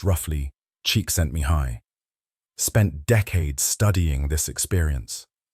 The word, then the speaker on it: Csikszentmihalyi: Psychologist Mihaly Csikszentmihalyi, pronounced roughly Csikszentmihalyi, spent decades studying this experience.